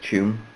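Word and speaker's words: Tuam: used to go up to a place called Tune. Though it's spelled really oddly, like most Irish names in English are spelled T-A-U-M, but it's pronounced Tune.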